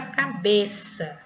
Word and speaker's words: cabeça: E temos a palavra cabeça, cabeça, tá? Então, é a sílaba tônica, né? Pronunciada com mais intensidade, mais força, é a penúltima, por isso que ela é uma paroxítona, tá?